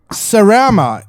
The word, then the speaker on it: Sarama: Alex Sarama, is that the correct pronunciation? Perfect pronunciation.